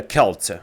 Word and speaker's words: Celt: pronounced the Celtics and it wouldn't be said Celtics it would be the Kelt like come on bro